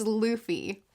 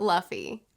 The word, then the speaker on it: Luffy: I'm gonna do my best, you guys, to pronounce these things, but I've never seen the anime, so I know now that it's Luffy and not Luffy.